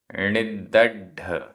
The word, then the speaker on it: णिद्दढ: णिद्दढ, णिद्दढ, आधा द पूरा द, आधा ढ और ड।